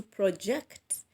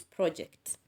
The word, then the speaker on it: project: in a sentence and see where we should stress if the same words are used as verbs and at the same time they are used as nouns for example he was requested to project his voice as he presented his project he was requested to